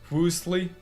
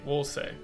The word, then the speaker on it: Woolsey: Am I saying his name wrong? I don't. Woolsey. I have very slight dyslexia, so I flip the S and the L a lot.